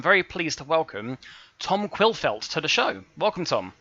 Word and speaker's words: Quillfeldt: formats so I'm very pleased to welcome Tom quill felts to the show welcome Tom thank you and you pronounce my surname correctly which stunned me thank